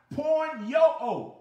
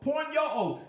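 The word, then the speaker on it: πορνεύω: And that word is pronounced porn-yo-o, porn-yo-o.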